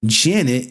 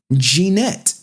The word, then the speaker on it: Jeanette: Now in the videos, podcasters mocked the lawyer chick and mispronouncing her name as Janet instead of Jeanette.